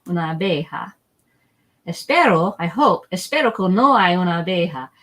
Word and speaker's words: una abeja: Una abeja. Una abeja. So what we do is we kind of squish the A's together. Una abeja. That's why there's not an extra syllable down there.